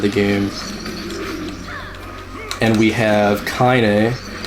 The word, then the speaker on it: Kaine: game, and we have Kaine, Kaine, I think is how you spell her name. Apostrophe E. Yeah, the E has like a French accent on it. But I say it like Kanye West, so that's Mash does